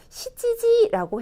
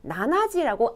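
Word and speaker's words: 七時: 시지지라고 해요. 그런데 가끔 나나지라고 아주 강조, 7시를 굉장히 강조하고 싶을 때 나나지라고도 말을 할 수는 있어요. 보통은 시지지라고 합니다. 그리고 9시 같은 경우도 숫자 9가 큐 긴 발음도 있고 쿠 짧은 발음도 있었잖아요. 큐지도 될 것 같고 쿠지도 될 것 같아요. 그런데 일본 사람들은 큐지라고 말하지 않아요. 거의 말하지 않고 쿠지라고 합니다. 그래서 4시는 요지, 9시는 쿠지, 7시는 시지지, 나나지 두 개 다 가능하지만 시지지를 더 많이 쓴다.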